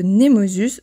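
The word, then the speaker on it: Nemausus: pour la cité de nemosus je prononce à la française désolé mais tu connais aussi le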